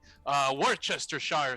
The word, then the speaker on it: Worcestershire: While he's trying to cook these truffles, I'm like, Worcestershire sauce is how you say it.